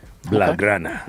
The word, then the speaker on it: Blaugrana: I'm working on the pronunciation. Blaugrana.